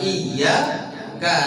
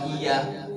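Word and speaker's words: إِيَّاكَ: Tapi kalau umpamanya kita bacanya iyyaka, iya tidak ditahan, nggak digunakan. Iyyaka na'budu wa iya, gitu tuh. Ya. Maka itu akan jadi rusak lagi.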